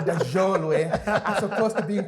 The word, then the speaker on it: Choolwe: So yes, so technically, my name is Choolwe, right? But then I got you on that one. yes, but because of people pronounce differently, so you tend to let it pass. But the correct way is Choolwe. Actually, it's supposed to be Jhoolwe, if that is the correct pronunciation. But then most people can't, right?